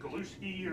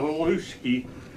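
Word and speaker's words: haluski: That kid, it's like Galuski or... I don't know. Something like that. It's about Galuski, but my dad said the H's are often... pronounces G's.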